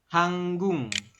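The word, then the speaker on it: 한국: Ini guk, giok di akhir bertemu dengan miem, maka giok berubah bunyi jadi eng. Jadi ini dibacanya hanggung.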